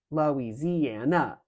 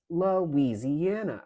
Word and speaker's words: Louisiana: it like um Louisiana it's not Lis Lise lisana right it's lisiana and first of all that's five sounds we don't want we don't want five syllables but um if you